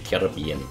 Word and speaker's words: Caribbean: with penalty mode of the Caribbean or Caribbean depending on your preference on how you pronounce it but that's in a